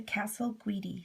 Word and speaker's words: Casalguidi: this is the castle guidi stitch it's also called the raised stem stitch it's an italian word and it's spelled c-a-s-a-l-g-u-i-d-i so to begin with the first